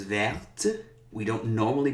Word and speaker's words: verte: So brun becomes brune, vert becomes verte.